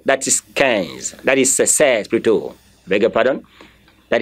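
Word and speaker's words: seize: That is says, Pluto.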